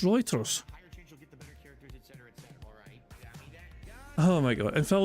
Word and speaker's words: Reuters: thought it pronounced Reuters am I wrong or is Phil wrong I could have sworn it pronounced writers oh my God and